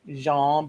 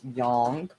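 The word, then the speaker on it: Jung: which was defined by called Jan but it's pronounced Yong of meaningful coincidences so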